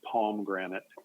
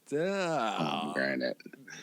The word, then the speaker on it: pomegranate: Well, it's Yeah, it's it's spelled and pronounced in the Texas work as palm granite. Like p palm granite instead of pome pomegranate. Get out. Pomegranate.